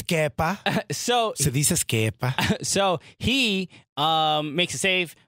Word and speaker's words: Kepa: So Se dice Kepa.